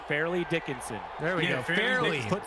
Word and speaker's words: Fairleigh Dickinson: I forgot how you pronounce that college. Farley Dickinson. Fairleigh Dickinson.